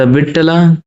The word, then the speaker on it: विट्ठल: Question 30 है, द विट्ठला temple is famous for. जो विट्ठला temple है जिसको वित्थल वो कभी कभी प्रोनाउंसिएट करते हैं, वो किस लिए जाना